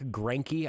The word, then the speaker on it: Greinke: Well, let's talk about the other young up-and-comer who had a great performance today, being Zach Greinke, I believe is how it's pronounced.